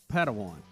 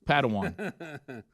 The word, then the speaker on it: Padawan: still like young putt Padawan yeah and we now officially know from the Star Wars people it is three syllables right for some reason